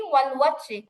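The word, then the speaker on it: والوتر: উচ্চারণ হবে ওয়াল ওয়াত্র। ওয়াও জবর কিন্তু অ হবে না আপু, ওয়া হবে, ওয়া। ওয়াও জবর ওয়া, ভুলেও এটাকে অ পড়া যাবে না।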